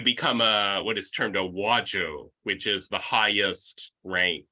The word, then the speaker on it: Wajo: It's Wa. Yeah. So and then Joe. So just as it sounds, just Wajo.